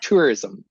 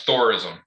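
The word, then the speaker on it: Þórisson: used to call him tourism yeah tourism tourism but it's thorism like Thor he does and I've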